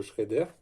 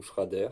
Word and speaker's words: Schrader: Moi qui suis tout le temps en chambre à air, bien sûr un préventif pour valve Schrader ou Schrader, ça dépend comment vous le prononcez.